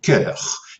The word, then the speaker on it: cœur: Alors, on ne prononce en français moderne plus ces diphtongues, hein, donc on prononce maintenant cœur.